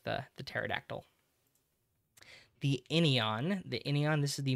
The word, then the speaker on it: pterodactyl: Way that you can remember this, if you want to, the pterion has a silent P like pterodactyl.